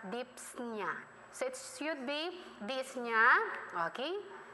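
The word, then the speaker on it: dyspnea: year freshman in college we pronounce it as dips Nia sets you'd be disneyana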